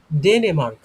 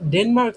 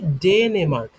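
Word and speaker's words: Dänemark: আমার নাম হয় ডেনেমার্ক। আমি ডেনমার্ক থেকে এসেছি। এটা উচ্চারণ হবে কি? ডেনেমার্ক।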